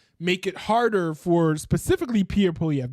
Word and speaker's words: Pierre Poilievre: it harder for specifically Pierre Poilievre. Did I say it right? Did I get it? Yeah, it's Pierre Poilievre.